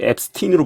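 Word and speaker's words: Epstein: 거예요 어 뭐 우리나라에서는 제프리 앱스타인이라고 하죠 근데 이제 자기가 앱스틴이라고 불러 달라고 했어요 어 영국이나 미국에서 다 그 제프리 앱스틴 부르고이 뭐 영미권에서는 그 발음이 원래 어떻게 나던 본인이 이제 불러 달라고 하 대로 불러 주거든요 그래서 미디어에서 항상 이제 앱스틴이라고 말하는데 어 사실은 이제이 사람 관련된게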